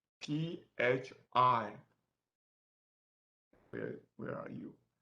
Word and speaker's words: phi: Okay, so these three symbols pronounced as phi, P-H-I. Where are you? P-H-I, phi.